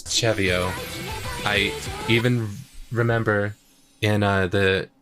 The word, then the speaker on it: CeVIO: The way it's pronounced Chevio, it feels like it should be Cevio. Yeah, I pronounced it Cevio for a while, but it is Chevio.